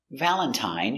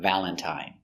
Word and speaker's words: Valentine: have three different pronunciations Valentine uses the original I sound I long I Valentine but you have words